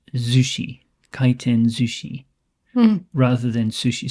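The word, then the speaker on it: 回転寿司: is usually pronounced Zushi kiten Zushi rather than sushi so the S changes to a zed sound um anyway this is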